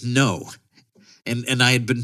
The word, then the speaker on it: Ngo: it correctly and then he just pronounced it no and and I had